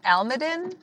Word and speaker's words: Almaden: It's right alongside the, I might say this wrong, Almaden?